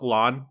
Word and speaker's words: Elan: But it's called the website is I think it's called pronounced Elan, but ELAN.school SCHOOL.